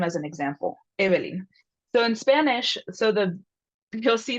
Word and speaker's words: Evelyn: So when I say my name in English, I go Evelyn. So Evelyn. So what's happening there in English, the first syllable is the stress syllable, so it's longer, which is, I'm representing this with a capital V, and all the other vowels in my name get shortened.